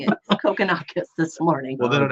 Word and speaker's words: Kokkinakis: How would you pronounce that? Kokonakis. It's No. Kokkinakis. No, it's Kokkinakis.